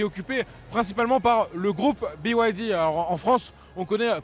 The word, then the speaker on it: BYD: Donc BYD hein qui se prononce bien sûr à l'anglaise, l'acronyme de Build Your